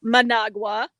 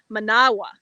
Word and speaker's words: Managua: hear how i say manawa managua no no no no no used to say managua most americans managua but when you're hearing nick same thing nicaragua when you're here you start listening manawa nicaragua they don't pronounce